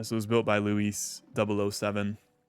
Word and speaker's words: Luis: This was built by Luis, which I think Luis is the correct way to say it, but on stream I said Lewis, which I cringed at when I made the video.